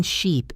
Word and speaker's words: sheep: The vowel in sheep is long and stretched.